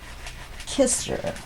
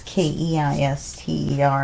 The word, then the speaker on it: Kister: People mispronounced it, though. They went right for Keister, even though there was no E or anything in there.